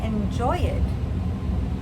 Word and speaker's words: enjoyed: I'm not saying enjoyed. I enjoyed the movie.